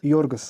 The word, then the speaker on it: Yorgos: name Yus lamos say the first name again yorgos Yus yes he's Greek it okay cool yeah